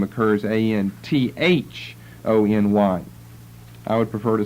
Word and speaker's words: Antony: is on the chart I believe but it's pronounced Anthony and I think more typically it will be